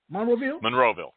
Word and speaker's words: Monroeville: How do you pronounce that, Mike? Monroeville? Monroeville, yes.